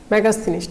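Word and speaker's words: Megasthenes: मेगास्थनीज, मेगास्थनीज। ठीक है, स्पेलिंग में आप थोड़ा NESE होगा, मेगास्थनीज, मेगास्थनीज।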